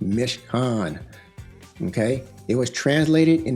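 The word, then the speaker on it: מִשְׁכָּן: Mishkan. Mishkan. Okay, Hebrew word, pronounced Mishkan.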